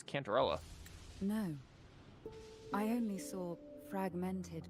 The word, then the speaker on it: Cantarella: Also, do you pronounce her name Cantrella? It's Cantarella.